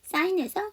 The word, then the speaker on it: sign: sign에서 GH가 묵음이에요. sign에서 G가 묵음이에요. I'm sorry.